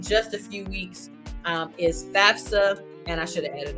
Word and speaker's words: FAFSA: That's how it's spelled. That's how you say it. It's not FAFSA. It's FAFSA.